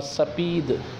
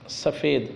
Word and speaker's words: سپید: سے۔ سیاہ یعنی کالا۔ سفید اور سپید دونوں تلفظ ہے، معنی ہوتا ہے سفید، اردو میں سفید بولتے